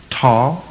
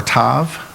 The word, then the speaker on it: Tav: It's the Hebrew letter Tav or Tav. Sometimes that letter V is pronounced as a W.